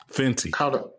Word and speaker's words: Fenty: Fenty.